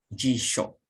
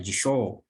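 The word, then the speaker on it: 辞書: ada ini kamus artinya dibacanya jisok soalnya bunyi pendeknya jadi jangan Jisoo biji shop Hai guys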